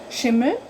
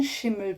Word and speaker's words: Schimmel: So you would spell it again, Mel, but we don't say that. At least here, we say M, Shim, Schimmel, Schimmel, Schimmel.